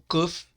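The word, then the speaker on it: קוף: Aqui nós temos o kuf, ele é articulado muito fortemente do que o kaf. O kuf é como o café em inglês, kuf, kuf, como se estivesse tossindo, entendeu?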